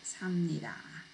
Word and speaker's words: 삽니다: But when you pronounce it, 삽니다, it changes to 미음.